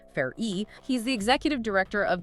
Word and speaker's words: Farrey: So, to get there, we are pulling from recent congressional testimony from Tom Farrey, F A double R E Y, pronounced Far-E.